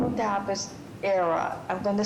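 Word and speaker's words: Aira: with blindness the name of the app is era I'm going to spell it just in case a i r a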